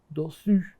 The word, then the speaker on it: dessus: dessous، dessus، dessous، dessus. این که اوه مثل اون سو یعنی زیر، اون که اوه مثل سور یعنی رو.